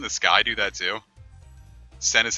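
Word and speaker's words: 戦: Sen is how you pronounce war in Japanese.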